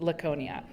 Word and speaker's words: Laconia: I think that's how you pronounce it. Laconia.